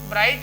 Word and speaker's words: bright: ही रहता है तो जैसे ब्राइट है तो बी आर आई प गया टी पढ़ लिया गया जी छूट गया तो जी साइलेंट हो गया हाई इतना पढ़ा गया य जी तो इस